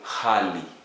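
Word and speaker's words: ghali: GH. Again, we don't have that in English. We pronounce it as kh. A Swahili example, hali, expensive, hali, expensive.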